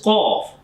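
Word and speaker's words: ق: heavy sound of this Qaf. And when it's Kaf, this is a different shape of the Qaf. So this is sound is Kaf. Kaf, not Qaf.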